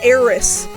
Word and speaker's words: Aerith: So, for all the years that we were calling Aerith Eris, I mean, we were pronouncing it the way the Japanese pronounce her name. The Japanese say her name is Eris. It's just not Romanized that way.